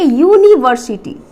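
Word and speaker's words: university: लेकिन बट जब हम इसका प्रोनाउंसिएशन करेंगे, जब इसकी हम उच्चारण करेंगे, तब हम इसको क्या पढ़ेंगे, यूनिवर्सिटी। It means first letter is what, O. It means it इज व्यंजन वर्ण।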